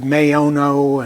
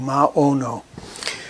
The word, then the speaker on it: Maono: I've heard Mayono and a few other approaches. I take the Latin language approach, short A, long O, Maono.